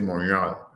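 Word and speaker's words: Montréal: because I speak French I always say monal which is the pronunciation French I don't know why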